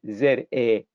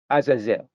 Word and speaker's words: Azazel: scapegoat is the word depending on how you pronounce it a-z-a-z-e-l azazil now it has been translated as Cape good because of the understanding of the translators but the Hebrew word is Azazel or Aziza whichever you prefer and Aaron shall bring